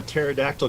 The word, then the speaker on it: pterodactyl: can't you hear a pterodactyl going to the bathroom because the p is silent I don't know